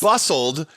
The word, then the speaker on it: Bustld: It's bustld, but when I first saw it, you know how like some companies have like LTD, like limited?